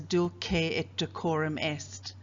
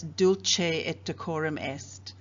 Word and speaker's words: Dulce et Decorum Est: into my head so i will pronounce the title as du ke et de korum est there will be other teachers who pronounce it in the more italian way as dulce at decorum est both of these are acceptable pronunciations consider the image that i